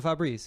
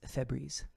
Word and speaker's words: Febreze: Just change your name to Fabreze. One. Fabreze. Um, it's Febreze.